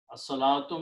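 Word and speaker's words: الصلاة: So alif has sound. Lam does not have a sound.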